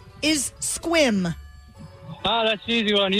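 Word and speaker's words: Sequim: First time I saw that, I was like, "Sequam? What the hell is a seaqu?" And then they're like, "No, it's pronounced squim."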